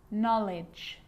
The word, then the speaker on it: knowledge: A K is not pronounced when it comes before an N, like knife, no, knee, knock, not, knowledge.